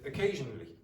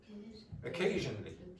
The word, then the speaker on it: occasionally: So the pronunciation again. Occasionally. Okay? So one of these is strong, that one. Occasionally. The rest are very weak.